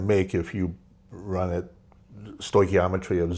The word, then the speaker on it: stoichiometry: One is you had talked about stoichiometry.